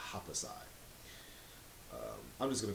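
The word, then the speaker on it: Happosai: I think you pronounce his name Hapasai.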